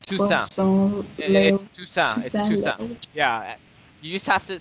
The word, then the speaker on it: Toussaint: So in French, what you have to do, you basically just drop the last couple letters of the word, and that's you just pronounce it like that. So it's Toussaint.